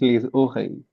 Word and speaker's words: oreilles: That will be les oreilles. The pronunciation is les oreilles.